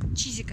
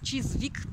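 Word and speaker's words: Chiswick: Чизик это произносится. Чизвик пишется, Чизик произносится.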